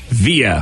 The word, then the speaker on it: Via: Via.